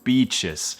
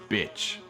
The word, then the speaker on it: beach: In Mexico there are some beautiful beaches. Pero desafortunadamente muchos latinos, en lugar de decir beach, dicen bitch. No digas eso, di beach. Beach es más prolongado ahí. Beach, beach, contra bitch. Beach, bitch.